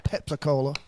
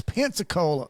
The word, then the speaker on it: Pensacola: to and and I I found out I was pronouncing it wrong I was saying pepac Cola it's Pensacola up here Pensacola Cattail in